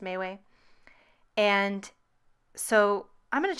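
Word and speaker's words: MeWe: But I'm definitely getting a lot of invitations to this Mayway one, M-E-W-E. I assume it's pronounced Mayway.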